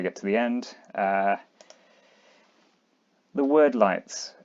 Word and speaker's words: Wyrdlights: The word lights. I'm pronouncing it word light. It might be weird light. I'm going word because of more time, and they officially pronounce Weirdstone as Wordstone.